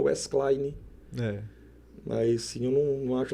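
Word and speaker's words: Wesclay: O nome do meu irmão é Wesley. Wesley. Escreve Wesley. Wesley. W-E-S-C-L-A-Y.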